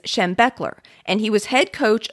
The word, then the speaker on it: Schembechler: room was so bo the pronunciation of Bo's last name is Schembechler and he was head